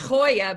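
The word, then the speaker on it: Gioia: gentleman named Ted now he pronounces it it's pronounced Hoya but it's GI IO I a Ted Hoya uh it's an amazing book called the history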